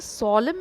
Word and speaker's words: solemn: Weavers weaving solemn and still. What do you weave in the moonlight chill? अब यहाँ पर देखो solemn, it is not solemn, n is silent.